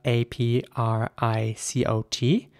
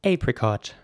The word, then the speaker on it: apricot: the fruit is spelled a p r i c o t um and in British English this is pronounced apricot and in American English this would be pronounced apricot with an a sound here's an example of